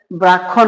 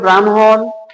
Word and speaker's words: ব্রাহ্মণ: এটার উদাহরণ দেখেন ব্রাহ্মণ অনেকে এটাকে মনে করে যে ব্রাক্ষণ বলে থাকি আমরা যারা না জানি এটাকে ক্ষিয় মনে করে অনেকে এটাকে বলে যে ব্রাক্ষণ বা ব্রক্ষপুত্র বা ব্রাক্ষণ বা অনেকেই পড়ে থাকি এটা ভুল তাহলে আমরা এবং এই উচ্চারণ হবে ব্রাহ্মণ ব্রহ্মপুত্র ব্রাহ্মণবাড়িয়া